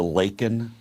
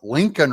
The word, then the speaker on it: Laken: And Biden finally says her name and he calls her Lincoln Riley instead of Laken Riley.